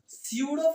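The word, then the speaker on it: pseudo: biology रे पढी थिबो स्यूडो पडिया सेठी पी साइलेंट रहउतला के रहउतला जेमति सुनामी सुनामी रे spelling cone T एस यू एन ए एम आई हमने टी रे साइलेंट से बोला स्यूडो पडिया पढी थिबो एमओ बा पाखरे बायोलॉजी रे से बोला पी स्यूडो एठी देखो आको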